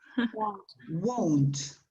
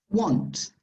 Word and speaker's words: won't: won't yeah i want won't yes be careful with the pronunciation of that that is like warmed won't different from this one that is want can you see the difference won't want okay right is there